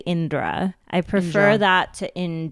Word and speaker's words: Indra: let's say your name so i-n-d-r-a it's Indra if you're pronouncing it if you're like a native Hindi speaker or you've been around like Indian accents your whole life you should be able to say Indra but I recognize that